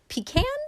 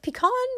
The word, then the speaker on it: pecan: now I went to the pecan pecan depending on how you pronounce it flea market and